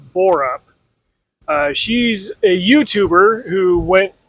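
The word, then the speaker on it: Bearup: The book is Just Stab Me by Jill, I believe it's pronounced Borup.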